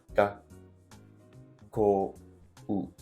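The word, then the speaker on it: がっこう: Ga, ko, u. It's like 4 beats, even if it's only 2 syllables.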